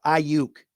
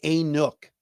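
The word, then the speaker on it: Aiyuk: his face right into the hands of Brandon auk and it's I UK all right somebody tell the guy on the weekends on the radio it's pronounced auk not AOK Focus so behave um the lions are probably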